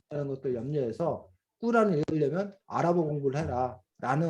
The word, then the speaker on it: 꾸란: 그래서 뭐 이런 정도들을 여러분들이 알면 되고, 그 다음에 꾸란, 코란이라고 하기도 하는데, 코란은 영어식 발음이고 우리가 보통 꾸란이라고 아랍어식 발음 꾸란인데, 이게 이슬람 경전인 걸,